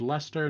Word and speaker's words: Leicester: looking for uh red lester not red leicester uh for future reference but fine um red